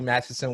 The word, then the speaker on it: Mathieson: welcome to off the podium I have Holly Madison with me and she is currently in Scotland